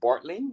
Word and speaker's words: Bartling: we are welcoming Colleen bartling is that how you pronounce your name correct that's right that g that silent G gets everybody the silent so how